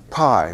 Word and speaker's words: pi: polite company here right we're used to saying pi in america okay pi psi chi